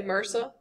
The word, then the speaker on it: MRSA: it like a word just like people say merca merca is not a word y'all it's an acronym m RSA, but we try to pronounce them as if they're words.